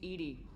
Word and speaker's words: EDI: Why are you named Edie? EDI is the phonetic yeah. pronunciation of EDI.